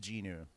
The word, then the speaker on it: Jin Woo: It's still spelled Jin Woo, but it's pronounced Jinu.